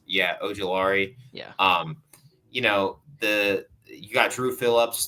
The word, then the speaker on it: Ojulari: You got Brian Burns, you got Aziz oh my gosh, Ojulari. I can't even pronounce. Yeah, Ojulari.